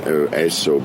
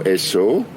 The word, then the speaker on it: Esso: Actually, do you know Esso, which was before Exxon? Do you know where that name come from? No. It's a pronunciation of Standard Oil, S-O.